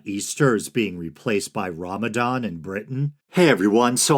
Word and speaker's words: Ramadan: And Ramadan is the correct pronunciation, right? I wanted to make sure I wasn't unconsciously calling it Ramadan or something.